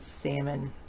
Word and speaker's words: salmon: I don't know why the L is silent and salmon it's kind of like